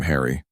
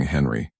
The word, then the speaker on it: Henry: In English mouths, Henri became Harry. not as a nickname, as the actual pronunciation. When medieval Englishmen spoke about their kings, they didn't say King Henry.